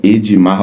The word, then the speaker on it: Ademar: Até porque se escreve de um jeito, mas se fala de outro. O nome dele inscrito, né, é Ademar, né? Ademar Lopes, e o nome falado aí é Edmar Lopes, né?